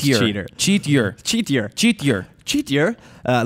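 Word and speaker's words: Chetyr: E T Y R chaitier chiider but it's supposed to be pronounced cheater cheatier cheatier cheatier cheatier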